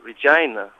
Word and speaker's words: Regina: We're on the way to Regina from Sakatun to I think think it's pronounced It sounds like vagina, but we spelled Regina.